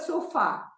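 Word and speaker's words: sofá: sofa is Pink now the word so far so far has got an accent on the second syllable okay so that is so far the far there is an accent on the a all right so so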